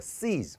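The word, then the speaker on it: cease: 멈추다 한 번만 더 씨즈 뭐하다 멈추다 됐지 그러면 봐봐 자 스펠링상 a가 사라지겠습니다만 seez에요 그죠 그럼 sistent까지만 쓰면 이건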